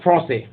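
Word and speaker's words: français: तो अगर कोई मेल अगर बोलता है कि मैं फ्रेंच हूँ, तो वो बोलेगा फ्रांसे, और अगर कोई महिला बोलेगी तो वो बोलेगी फ्रांसेज। तो ऐसे ही अगर कोई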